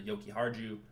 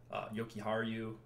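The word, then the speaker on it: Jokiharju: can go down the yoki hard you yoky har you I think it's how you pronounce it the J's pronounced like a Y if I remember correctly anyways he is min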